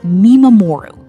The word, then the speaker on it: mimamoru: This leads us to the second concept, which is called Mimamoru, pronounced Mi-ma-mo-ru.